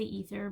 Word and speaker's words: ether: Some people might pronounce it aether. I say ether, but that's just me.